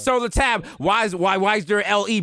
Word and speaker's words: Sur La Table: And the last word in their name is not pronounced the way it's written out. Okay? I thought it was called Sur La Table. Sur La Table.